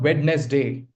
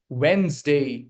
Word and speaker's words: Wednesday: So this becomes when's day. Wednesday. Got it? It's not wed day. We drop this sound. We do not pronounce D over here.